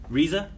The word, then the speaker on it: RZA: They only had Riza, is that how you say it? Riza.